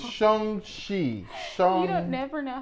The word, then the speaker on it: Shang-Chi: It's Shang-Chi. You don't never know how to pronounce nothing that we do.